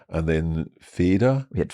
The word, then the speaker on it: Feder: And then Feder. We had Feder, genau, with just a D. So F-E-D-E-R. F-E-D-E-R. Okay. Feder, Fell. And that is where we're hearing a difference in the pronunciation.